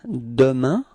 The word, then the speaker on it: demain: repeat, demain, okay, so it's ending with this A-I-N, keep in mind that we do pronounce it like un, okay, so it's demain, demain,